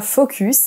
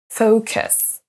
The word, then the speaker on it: focus: Banana et le dernier ne dites pas focus mais focus focus là on a un son choix des deux côtés une fois que vous